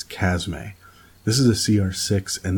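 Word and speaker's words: Chasme: the next one is the chasm a or I have heard people pronounce it in a chasm but it's a it's chasm a this is a cr6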